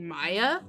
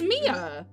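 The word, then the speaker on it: Miya: Because, okay, so, I heard people online pronouncing it Maya, but it's Mia.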